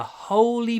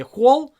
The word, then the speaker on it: holy: Чтобы правильно произносить holy, вы должны открывать рот. Не hole, а смотрите. Holy. Holy. Как будто мы говорим hut или hungry. Holy. Много wa.